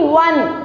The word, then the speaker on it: one: How do you say one? It is wa, right? It is not O, but it is wa. We say it one, right? What sound is it giving out? W sound.